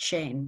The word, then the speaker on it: Schoen: Schoen-C, except my family's always pronounced it Shane, but...